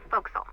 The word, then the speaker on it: forecastle: ship, but it's pronounced forecastle. Why is that? Try pronouncing it like an English sailor with no formal education.